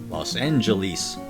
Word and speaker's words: Los Angeles: g and an a sound for the last e in old movies i'll often hear it pronounced los angeles with the distinctive long e towards the end knowing how to